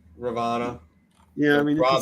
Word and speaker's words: Ravana: I would say Ravana. Ravana. Yeah, I mean you can say Ravana. whatever you Yeah. say whatever you like. That's the Sanskrit way. That's how it's said in Sanskrit apparently, but you can say whatever you like.